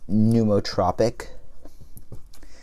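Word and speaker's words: pneumotropic: it would be a pneumo tropic believe the P is silent pneumo topic if it's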